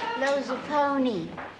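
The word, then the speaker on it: Lozupone: I'm Carla's sister, Lowe's a pony. Whoa, what an interesting name. How do you pronounce it? Lowe's a pony. Gee, just like it sounds.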